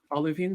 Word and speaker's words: olivine: Is it like olivine sand? Is that how you say it? Olivine, yeah. Like Olive with IN in the middle.